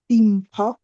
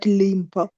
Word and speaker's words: Dimpo: My name is pronounced as Dimpo, D not Limpo, Dimpo.